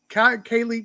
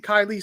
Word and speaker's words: Kiely: also um the uh uh kaylee kylie sorry mispronouncing her name um she was she